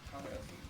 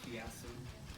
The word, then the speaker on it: chiasm: With this one, I said like I think I said like chiasm. It's like the working title. Then I how it's chiasm from Google.